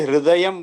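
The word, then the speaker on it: हृदयम्: रहे हैं तो फिर आप एक बार थोड़ा सा पहले ह का उच्चारण करें, आधे ह को कैसे बोले, फिर पूरे र को बोले, और फिर उन दोनों को मिला करके उच्चारण करें, तब उसका उच्चारण आपको दिखाई देगा।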